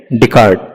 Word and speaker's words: Descartes: तो एक प्रोनाउंसिएशन उनका है रेने डिकार्ट, रेने डिकार्ट, तो ऐसे भी आप प्रोनाउंस कर सकते हो.